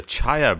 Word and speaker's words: Czaja: Spare a thought for the Chaya brothers. Oh, wow. Do you Chaya wanna- spelled like the seeds? No, that would be good. No, it's spelled CZAJA.